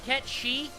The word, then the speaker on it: Cait Sith: It's supposed to be Ket Shi.